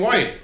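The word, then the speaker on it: Wight: Caskin's like, "That's Cocaine White." You don't know Cocaine White? Celebrity mage, celebrity mystic, She's sure. and you don't. Yeah. And by the way, it's spelled W-I-G-H-T.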